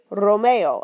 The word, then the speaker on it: Romeo: If my word starts with R, like Romeo, right? Romeo, a little bit of a roll, Romeo.